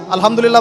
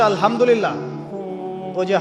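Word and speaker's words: الحمد لله: আলহামদুলিল্লাহ ভালো আছি তো আলহামদুলিল্লাহ না বলে সে বলেছে আলহামদুলিল্লাহযে হা এর উচ্চারণ পরিবর্তন হয়ে গেছে এই কারণে অর্থ পরিবর্তন হয়ে দাঁড়াবে সমস্ত নিন্দা আল্লাহর জন্য যিনি জগৎ সমূহের রব আমার কথা কি বুঝতে পারছেন শুধু হা এর মাখরাজ ভুল হওয়ার কারণে এই সমস্যা হল তাই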